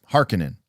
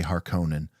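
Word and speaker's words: Harkonnen: is my understanding that the correct way that Herbert said to pronounce hekinan is hekinan but I prefer to say har Conan it's just how I grew up saying it because of the mov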